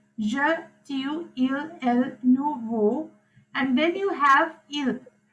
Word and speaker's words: vous: It is again not vous, okay? It is vous. Vous. Je, tu, Excuse me, teacher. and je, tu, il, elle, nous, vous.